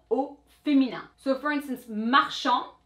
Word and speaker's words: marchand: In the masculine form, that was the D. Marchand, marchande.